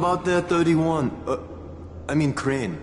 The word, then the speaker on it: Crane: name is crane okay crane rhymes with train and brain and sane and gray and rain and plane and the other kind of plane and and can I